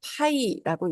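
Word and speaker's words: π: 원주율이라고 부르고 그것의 기호로는 자, 이러한 기호를 쓰고 읽을 때에는 파이라고 읽습니다.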